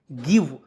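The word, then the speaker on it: give: का व लिखते हैं जी आई व ई गिव और गिव मीस क्या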